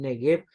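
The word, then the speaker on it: Néguev: la tierra del o a la tierra del negue también se puede pronunciar así hay versiones donde negue aparece con tilde en la primera e Así que es posible el neguev o el negue y acampó entre cades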